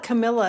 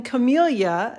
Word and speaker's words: camellia: to say it wrong camellia i want to call it camilla and i don't know why i keep calling it camilla but it's calling camellia stamp set which is one of